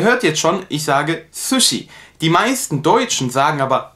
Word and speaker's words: sushi: jetzt schon ich sage sushi die meisten deutschen sagen aber sushi das ist nicht richtig auf japanische art und weise denn dass es wird scharf ausgesprochen sie nicht süß sondern sushi das gleiche haben wir